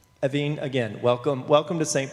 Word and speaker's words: Evin: is silent um but the American pronunciation which I'm perfectly happy with is a little more elongated it's evine and the last name